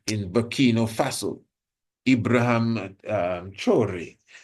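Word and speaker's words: Traoré: You know, we have our brother in in Bino Faso, Ibraham um chore, that's really how it's pronounced, who is doing marvelous works.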